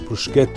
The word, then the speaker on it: bruschetta: the cafes for a bruschetta. I just don't get it. In fact, they can't even pronounce it right. It's bruschetta, not bruschetta.